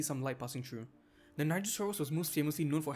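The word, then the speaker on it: Nigersaurus: Cia, it's pronounced nigasaurus. Say it with me now. It's pronounced nigasaurus.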